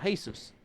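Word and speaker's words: Jesús: could see can write they don't don't pronounce G here and they write Jesus the same way so he's called hey sirs and hey sirs is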